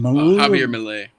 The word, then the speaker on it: Javier Milei: How do you pronounce his name? Javier Milei.